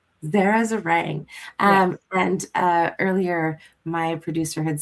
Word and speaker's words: Zeringue: Zara Zeringue. Zara Zeringue. And earlier, my producer had said it's like meringue, and now I'll never get that out of my head.